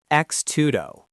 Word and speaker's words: X-tudo: The name uses the letter X, which in Portuguese is pronounced similarly to the English word cheese, and tudo meaning everything.